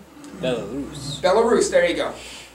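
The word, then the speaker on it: Belarus: if you're Russian I apologize for my horrible pronunciation but Bell Russ bellus bellarus there you go bellarus and what happened a big part of that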